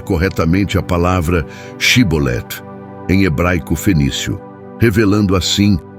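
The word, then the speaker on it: שיבולת: Rio Jordão foi-lhes solicitado que pronunciassem a palavra shibolet no entanto devido a sua herança egípcia não conseguiam pronunciá-la corretamente usando em vez disso a forma cbol essa dificuldade linguística resultou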